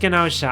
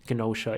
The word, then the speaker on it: Gnosia: So that's how I know the G is actually supposed to be pronounced.